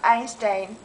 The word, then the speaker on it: Einstein: look at this here it goes in even though it's EI do you know why it he's German or something yeah he was Einstein Einstein right and so the